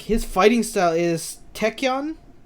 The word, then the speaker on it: tachyon: his fighting style is techyon yeah tachyon you said it right yes i did that